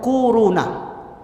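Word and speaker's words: كورونا: kwau row nah Hai korona bacanya tuh kuruna akhir-akhir ini bukan Tibet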